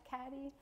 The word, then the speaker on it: Cady: Am I pronouncing it right, Cady or Cady? I think that the correct pronunciation is Cady, but almost everyone says Cady, and I don't know why.